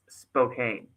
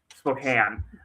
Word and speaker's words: Spokane: This is Spokane. Spokane. I keep in it wrong now myself.